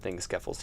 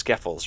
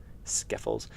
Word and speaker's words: Skeffels: I don't know why I changed the E to an I, but it's Skeffels, right? That's how it's actually pronounced. Skeffels.